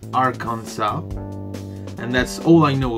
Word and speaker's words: Arkansas: reasona I see one of my favorite beverages our Kansai I know that it's pronounced Arkansas and that's all I know about it and